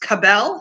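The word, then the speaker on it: Cabell: Larry McAllister a retired I think it's pronounced Cobell CA B e ll County deputy sheriff have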